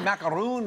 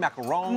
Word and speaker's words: macaron: I don't Is it macaroon, macaron? Macaron. Macaron. Yeah. And you have to Okay. So you don't say the N? macaron. I mean, commit to the French accent. Okay. Yeah. Macaron.